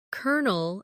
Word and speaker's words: colonel: For example, colonel is spelled c o l o n e l but sounds like kernel, or bologna, which is spelled b o l o g n a but pronounced bologna.